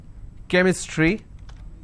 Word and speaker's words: chemistry: But when I have the word chemistry, CH becomes k sound.